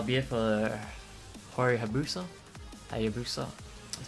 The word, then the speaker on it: Hayabusa: Hayabusa, that's how you say it.